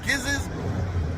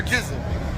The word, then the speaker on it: Giza: at a spot called gizz's Caribbean cuisine if I said it right it's either giz or jiz it's giz we going to say giz they are fairly new